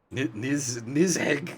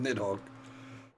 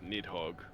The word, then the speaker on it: Nidhogg: Nizheg is certainly one hell of a pronunciation of Nidhogg.